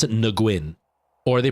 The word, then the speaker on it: Nguyen: But because Vietnamese uses the ng sound a lot more than you do in English. Like in sing, ng, that Nguyen, right? And so that's not an average noise in English. So when people read it, they can't comprehend, so they go with wing because their ear doesn't pick up the ng sound right before the wing, like the Nguyen.